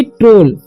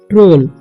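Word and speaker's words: troll: ओ ड यानी कि ओल पढ़ेंगे यानी कि ट्रोल क्या पढ़ेंगे हम इसे ट्रोल ट्रोल ट्रोल मतलब क्या होता है ट्रोल ही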